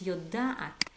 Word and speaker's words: יודעת: little bit, and it's יודעת. Be very careful to pronounce it as at. Don't be afraid. It's like a.